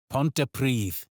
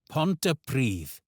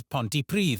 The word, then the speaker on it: Pontypridd: Pontypridd. Pontypridd. a town where the double D becomes the in this, and the stress is on Pridd. Let's try it again. Pontypridd. You may hear this pronounced as Pontypridd among English speakers and